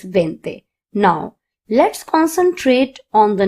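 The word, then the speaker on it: veinte: You have to remember that 20 is pronounced as vente.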